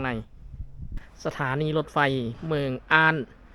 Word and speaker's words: Arden: สถานี รถ ไฟ เมือง อ้าน ประเทศ เดนมาร์ก อ่าน ว่า อ้าน ภาษา อังกฤษ อ่าน ว่า อาเดน แต่ ภาษา เดนมาร์ก ว่า อ่าน นี่ เฮา กำลัง สิ